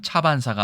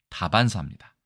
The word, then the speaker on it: 다반사: 가져와 보았습니다 먼저 보실까요 첫 번째는 차반사가 아니라 다반사입니다 차를 마시고 밥을 먹는